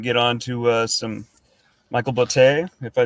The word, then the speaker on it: Botte: Yeah, so we can get on to some Michael Botte, if I right. Botte? Rhymes with latte, brother.